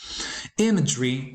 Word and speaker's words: imagery: is a common mistake imagery is also commonly mispronounced the stress should go on the first syllable objective is also commonly